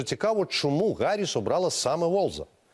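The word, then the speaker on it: Walz: уолзем теж хочу зауважити В пресі вже почали говорити вольц почали говорити волц Він сам про себе каже він сам вимовляє своє прізвище як волз а отже що нам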